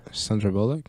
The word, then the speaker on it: Sandra Bullock: oh so basically you have that element right Sandra Bullock yeah you said it right did I yeah